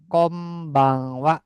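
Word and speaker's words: こんばんは: Kom bang kon bang tulisannya kon ya. Ini n-nya dipisah sebetulnya bacanya kombang wa.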